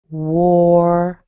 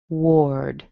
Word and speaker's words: Ward: All right, so this word would be or like store, and it sounds like ward. Ward. In fact, it actually rhymes with the word board, B-O-A-R-D or B-O-R-E-D, board, ward.